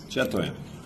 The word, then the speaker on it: chatoyant: Hemen okunuşunu bir kontrol edelim. Efendime söyleyeyim. Stoyant. Amerikalılar böyle okuyor. İngilizler böyle okuyor. Avustralyalılar böyle okuyor. Chatoyant.